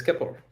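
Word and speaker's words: Keplr: Trezor, Ledger, MetaMask, Kepler. Is that how it's pronounced? That's a tricky name. Yeah, it's Kepler. Kepler is our leading browser wallet in Cosmos ecosystem.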